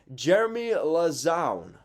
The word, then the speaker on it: Jeremy Lauzon: his family's actually reached out to me to pronounce his name correctly jeremy lauzon does that sound right i think i think